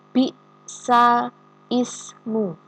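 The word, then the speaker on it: بئس الاسم: Jadi, cara membacanya adalah bi'salismu.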